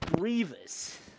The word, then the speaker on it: Grievous: It's like, bro, it's not it's grievous.